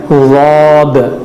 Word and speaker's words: ضاد: اس لیے کہ ضاد کا جو تلفظ ہے وہ زبان کا اندرونی اور کنارے کا حصہ اوپر کے دانتوں کی جڑ کو لگانا ہے, تو یہ جڑ کو